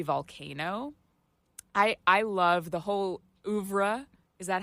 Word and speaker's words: oeuvre: I love the whole oeuvre.